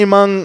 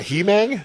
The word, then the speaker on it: Among: It's not He-Mang? It's among. I have been pronouncing that as He-Mang in my head for so long. You can say it whatever. It's one of those names you can just stretch it like bubble gum.